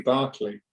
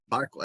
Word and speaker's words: Berkeley: Your last name, do you pronounce it Berkeley? It's actually Berkeley. Berkeley, there you go. But As you can probably... That's an Americanism. The Berkeley, because it's the same family, Berkeley University. It's the same family, but it's pronounced Berkeley.